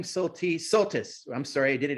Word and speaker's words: Soltisz: And thank you for telling us it's Soltisz. I have been pronouncing that wrong.